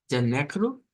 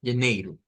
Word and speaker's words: janeiro: Siempre que encontramos ese diptongo EI en palabras en portugués, siempre vamos a tener la pronunciación con la I corta, como esta de acá, y la pronunciación como con una J. Janeiro o janeiro. Más comúnmente es janeiro.